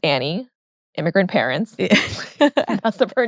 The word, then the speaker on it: Annie: sister's name is Annie it's spelled a an and E there's no I so a lot of people say an but she hates that so don't call her an her name's Annie immigrant parents mess up